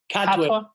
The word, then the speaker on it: Katwe: Katwe.